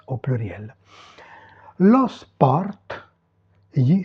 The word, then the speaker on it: sport: Lo sport, gli sport. Ok? On prononce ici le T final.